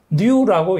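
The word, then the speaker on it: ν: 자, 요 V자를 이렇게 비스듬하게 적는 것을 이것을 우리가 뉴라고 읽습니다. 뉴.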